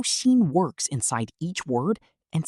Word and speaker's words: 新: Today, we're learning 10 common Chinese words with the character xin, pronounced xin.